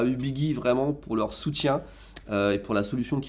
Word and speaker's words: Ubigi: alors fun fact apparemment on dit pas ubigi mais ubigi je préfère ma prononciation